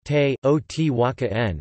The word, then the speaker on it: Teotihuacan: The name is pronounced te o t wa ka n in Nahuatl, with the accent on the syllable wa.